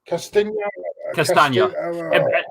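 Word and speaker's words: Castagne: Castagna. Pronounce it like lasagna. Pronounce it like lasagna, but with a k instead.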